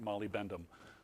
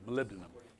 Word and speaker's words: molybdenum: do one mo molybdenum took me a while before I stopped pronouncing it Molly bentham it's how it's spelled oli bendable so molybdenum okay so you find